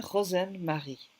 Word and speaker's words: Rozenn-Mari: Bonjour Isabelle Rosen-Marie. J'espère que je prononce bien.